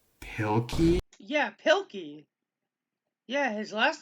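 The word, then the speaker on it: Pilkey: It's Pilky. Yeah, Pilky. Yeah, his last name is Pilky. I I was like, wait, what? You're pronouncing his last name wrong. It's not Pickley.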